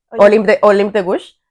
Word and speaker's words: Olympe de Gouges: Sí, ¿cómo se pronuncia? Olympe de Gouges.